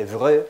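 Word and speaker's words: Évreux: Los primeros fueron la identificación del príncipe de Viana por comparación, Carlos de Evreux, el príncipe Evreux, es pronunciado así un poquito mejor en francés, príncipe de Viana, don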